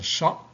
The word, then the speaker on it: chat: Un chat. La lettre muette qui manque, c'est T. Le champ, c'est P.